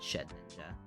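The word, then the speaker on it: Shedinja: ninja don't tell me shed ninja it's basically shed ninja when you think about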